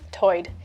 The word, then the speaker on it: tide: the outer banks accent where tide is pronounced toyed you can hear that